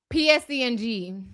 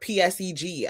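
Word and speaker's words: PSE&G: How you pronounce it? PSE and G. Oh, because I heard PSEG.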